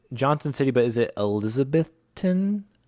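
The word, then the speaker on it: Elizabethton: are from is Johnson City but is it elizabethon how do you say how do you say that elizabethon yeah it's Elizabethan that's a lot of tease yeah we're we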